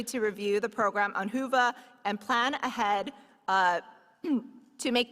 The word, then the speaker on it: Whova: Be sure to download our annual conference app, Whova, pronounced Whova for those who are wondering, to facilitate your in-person experience as well as to take advantage of virtual sessions.